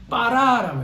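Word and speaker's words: ברא: 두 번째는 뭐냐면 바라입니다. 바라. 따라합시다. 바람이 아니고요. 바라 이렇게 바라. 따라합시다. 바라. 근데 이 바를 약간 세게 해야 돼요. 빠라라고 해야 돼요. 빠라. 따라합시다. 빠라. 그러니까 비읍이 쌍비읍이죠. 영어로 말하면 B가 두 개가 있는 거예요. 세게 불러줘야 돼요. 빠라.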